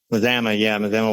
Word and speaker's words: Mazama: And clocking in at 330 square feet is another house you've designed called Tiny Leaf is it Mazama? Is that how you pronounce it? Mazama, Washington.